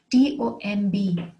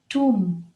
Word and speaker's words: tomb: Another word with the silent B in it is T-O-M-B, tomb, tomb.